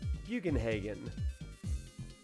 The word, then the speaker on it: Bugenhagen: how he pronounced it he said bugenhagen haen not hogin so there there's that